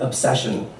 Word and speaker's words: obsession: The two different sounds of the S, the way the second syllable lifts you and then softly drops you into the cushy shun of the last syllable.